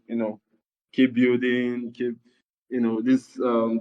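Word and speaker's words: BUIDL: the new token which is the um the building which is spelled B U I D L.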